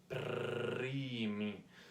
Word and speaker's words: primi: Listen to my R, primi. How do you roll your R? It takes a long time, but it's basically like vibrating in my mouth. It's basically the touch on my tongue with my the floor of my mouth, okay?